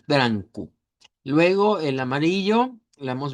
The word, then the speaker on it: branco: el color eh blanco lo vamos a pronunciar como blanco, eh con eh una anasalizada con la n al final, branco.